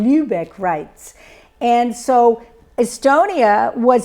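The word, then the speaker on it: Lübeck: Um and and they were in a legal framework which was called the Lubebec rights. Okay, I think I'm pronouncing it wrong. Lubec rights.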